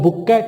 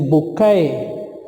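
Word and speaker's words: bouquet: वाला जो है इसको बाज़ औक़ात हम पढ़ते हैं बुकेट है या बॉकेट है, बॉक्वेट है, तो ऐसा नहीं है। It's correct pronunciation is बुक्के, बुक्के, बुक्के भी नहीं है, बुक्के, बुक्के।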